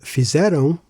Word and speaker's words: fizeram: As for fizeram and escola, no accents are necessary. Stress falls naturally on the penultimate syllable.